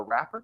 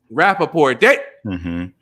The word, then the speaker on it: Rappaport: and include shepherd and fellow frequent co-host michael rapper is that how you say his name michael rapper rappaport michael rappaport as well as fat joe remy